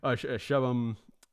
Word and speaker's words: Shubham: I thought I saw he said that I pronounced his name wrong earlier in the thing, and I definitely did. Shubham. We had some other people I do not know.